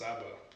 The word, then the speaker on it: Szabo: the good-looking overall guy, Szabo, or as I pronounce Szabo.